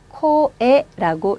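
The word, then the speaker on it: こえ: 카행 글자가 이렇게 뒤에 붙지 않고 앞에 붙었기 때문에 이 경우는 꼬보다는 코 발음이 좋아요. 그래서 코에라고 읽습니다.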